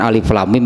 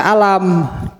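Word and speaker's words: الم: yang dipotong-potong atau dipisah-pisah jadi jangan dibaca alam hehehe Jangan dibaca alam itu alif.lam.mim itunya naik mulai ayat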